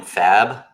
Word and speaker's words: Fab: Yeah, he says to call him Fab, like F-A-B, which is Fabeard Art is the tag on his Insta.